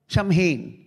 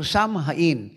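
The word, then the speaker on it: Samhain: samin s a m h a i n samin or samin or samin na pag Ito po pronounce ang ibig pong sabihin nito ay so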